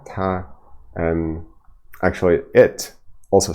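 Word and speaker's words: 他: So this is interesting, because both he and she are pronounced exactly in the same way. It's T and A in pinyin with the first tone, ta, and in spoken Chinese, I guess they're not distinguishable.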